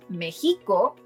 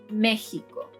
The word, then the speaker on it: México: Las palabras esdrújulas stress the third-to-last syllable and again, they all need an accent mark on that syllable. For example: México. Is not Mexíco or Mexicó, but México.